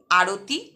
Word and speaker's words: আরতি: এগুলির প্রত্যেকটাতেই প্রথম যে দল তাতে শ্বাসাঘাত পড়ছে বা জোর বা স্ট্রেস পড়ছে।